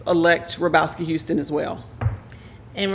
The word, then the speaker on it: Hrobowski: houston as well and rabrowski is h-r-o-b-o-w-s-k-i houston and no dash it's all one word oh it is okay and the h is silent in case you want to say it because i've been trying